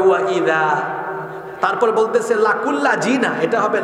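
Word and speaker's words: وإذا: যেমন এই যে পড়লো ওয়া ইজা লাকুল্লাযিনা, এই যে ওয়া ইজা পড়লো বাংলা উচ্চারণ, কিন্তু এখানে আলেমরা আছেন, শব্দটা হলো জাল, নরম হয় তাই না, জিহ্বার আগা দাঁতের আগায় লাগে, এটা হবে ওয়া ইদা।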